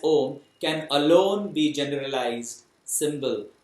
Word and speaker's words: Om: the om only because these three letters a u and m pronounced in combination as om can alone be generalized